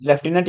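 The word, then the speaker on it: Lieutenant: आपको देखने को मिलेगा लेफ्टिनेंट लुटिनेंट इसके आप बोलते हो हालांकि थोड़ा सा बोलने में ही अंतर होता बाकी स्पेलिंग में भी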